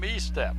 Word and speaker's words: Estep: conference with Jennifer huge I think he pronounces his name Estep he steps yes yes Estep Larry and I